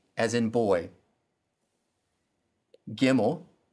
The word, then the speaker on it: Gimel: Gimel sounds like the G in God.